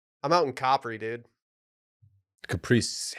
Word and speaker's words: Capri: Caprice. No, it's Capri, dude. It's Capri. That's how you say it.